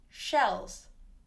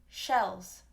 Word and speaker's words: shells: cells and shells shells note the ending on cells and shells is actually a z sounds which is voiced z sells shells that's me overemphasizing it'll be a little softer cells shells so it's almost kind of a mix between a z and an s when it's at the end like that okay so let's look